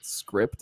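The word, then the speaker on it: Cycript: Before that, I used to use a thing called Script. I think it's how it's pronounced, like CYCRIP or whatever.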